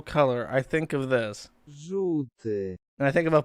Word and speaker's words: Żółty: It's really hard for it's notorious for English people not to be able to pronounce. It's this word. Żółty. Żółty.